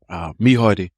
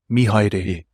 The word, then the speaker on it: Mihaere: Bro, just before we start, help this half Palangi guy with pronunciation, please, of your first name. Mihaere. Mihaere.